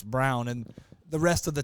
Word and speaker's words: Braun: they called him Christian Braun I said it's brown and the rest of the time that was